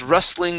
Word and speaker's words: rustling: word rustling okay so in this word the t is silent okay so all this rustling of leaves always rustling